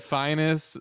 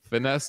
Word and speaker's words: Finest: I said finest rhymes with highness with an I and then a Ness. And then he said, Finesse Jackson and Brandon Fox. I like Finesse better. Sorry, I'm confused too. What's the right pronunciation? Finesse, Finest? The finest. Yeah. Like the finest things in life.